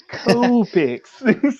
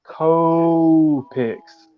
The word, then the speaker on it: Copic: Like you say it like co-pics, and we all have it like tomato. We all have like a different way of saying it. Yep. I say Copic, but I guess that's wrong too.